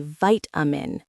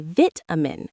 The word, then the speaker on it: vitamin: Americans say vitamin with a long I sound. British people say vitamin, short I. Same with privacy. Americans say privacy.